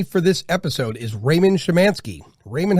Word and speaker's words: Szymanski: and joining me for this episode is raymond shimanski raymond how you doing sir fabulous you even